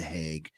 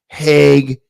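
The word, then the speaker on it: Hague: a special training to try these in the heg you have to be a heg lawyer and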